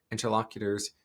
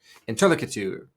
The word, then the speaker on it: interlocutor: interesting little word because I have heard three different pronunciations of it, depending on where you put it. Interlocutor. I've heard that one before. Interlocutor. Interlocutor. Interlocutor, depending on where you put the emphasis on which syllable.